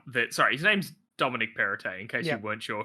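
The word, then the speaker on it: Perrottet: sorry his name's dominic perite in case you weren't sure who we were referring to all this parrot's head no you don't pronounce the tea the last one soft soft yes um the new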